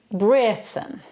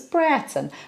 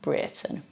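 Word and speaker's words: Brereton: in May 1536 William Britten now that's how it's pronounced although it's spelt VRE or eto and you'd think it was Breton but no it's a Cheshire name and it's pronounced Britain William Britain oh and I love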